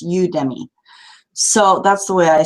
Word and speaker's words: Udemy: is you udemy and i imagine it sort of a twist on academy so it's udemy so that's the way